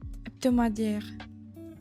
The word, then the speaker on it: hebdomadaire: Hebdomadaire. Since H is silent, hebdomadaire, which is weekly.